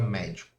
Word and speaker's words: médico: Por exemplo, se eu falo a palavra médico e eu separo a sílaba da palavra médico, a sílaba mais forte recai nessa antipenúltima sílaba aqui.